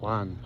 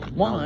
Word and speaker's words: Juan: right his name is Juan ju he might prefer Juan but I think it might be J which pronounced kind of like with a like an H kind of sound in Spanish Janan in this case